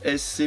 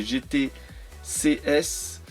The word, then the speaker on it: GT CS: La Mustang GT CS, j'ai toujours du mal à prononcer, je veux toujours dire SC, mais c'est GT CS.